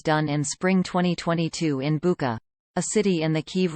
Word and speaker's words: Bucha: for what was done in spring 2022 in Bucha, a city in the Kyiv region, not Bucha as mispronounced by the English-language narrator.